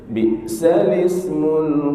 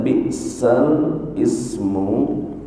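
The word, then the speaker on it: بئس الاسم: wala tanabazu bil alqab bi'sal ismul fusuq ba'dal iman wa man lam yatub fa ulaika humudz zalimun. Di sini ada pembacaan bi'sal ismu, tapi harus ditukar ke sini. Dibacanya bi'salismu.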